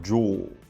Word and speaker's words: Joule: Ju vamos combinar né quem fala Joe com a pronúncia perfeita Então essa primeira opção